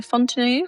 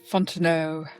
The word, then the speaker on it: Fonteneau: I'm joined by Fontine. I did I pronounce that correctly? Fontineau. Fontino. It's a French name, isn't it?